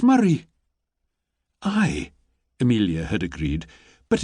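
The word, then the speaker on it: Moray: She'd copied down the letters carefully, M-O-R-A-Y, and she'd frowned. "But that's not how it's said at all," she'd pointed out. "It's Murray."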